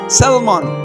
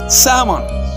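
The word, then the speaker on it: salmon: স্যালমন is wrong pronounce, স্যামন is right.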